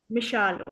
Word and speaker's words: Mishal: Am I pronouncing your name properly? It's Michelle, right? विशाल। Mishal.